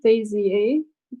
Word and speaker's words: Bézier: of all that's correct our pronunciation Daisy a okay French French pronounced with an A ending sound so much like I